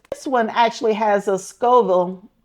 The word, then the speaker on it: Scoville: This one actually has a Scoville. I think that's how you say it, Scoville, S-C-O.